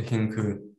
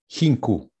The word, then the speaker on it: Hincu: So I just wanted to, first of all, thank you, Dr. Hincu, if that's a strong C, right? Yeah.